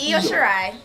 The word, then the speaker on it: Io Shirai: I don't know how to pronounce her name, so do you wanna? You did the chant too. Io. So it's Io Shirai.